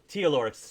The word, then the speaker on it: Tealor: Besides the PC character, Taylor, I think it's Taylor is how you pronounce his name. Tealor, sorry.